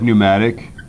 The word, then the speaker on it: pneumatic: that P's you know it's a silent P really the originally was spelled right just like just like pneumatic yeah right and you just don't say the P we just don't put